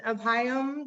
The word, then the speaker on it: Abhayam: know that about you either so um and apayam would you like to go next and please tell me if i'm pronouncing your name correctly i had thought i'd